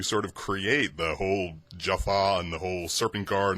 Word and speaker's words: Jaffa: some continuity between like how all the jafa say jafa and not jaffa and gl and all that.